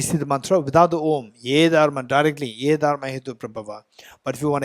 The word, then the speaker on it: om: not AA is a but when combined together it sounds om not and don't ask